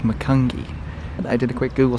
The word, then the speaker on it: Macungie: We're about 5 hours south in the town of, I believe it's pronounced Macungie.